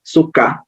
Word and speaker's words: sukkah: it's actually not it's sukkah just like it's written here in the transliteration and you have the